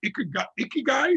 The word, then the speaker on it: ikigai: I think it's ikigai.